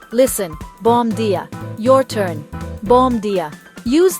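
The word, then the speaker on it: bom dia: It sounds like bomb dia. The first word rhymes with home and the second sounds like dia. Listen, bomb dia.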